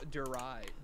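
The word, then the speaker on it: Der Riese: Actually, I'm pretty sure it's Darius, yeah. Yeah. Did you guys know that in an interview with Jason Lundell, the map's name is actually he talked to people in Germany. It's actually pronounced Derize.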